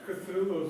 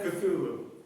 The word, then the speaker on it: Cthulhu: Cthulhu.